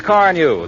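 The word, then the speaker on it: Carnu: By the way, Johnson's Car New is spelled C-A-R-N-U.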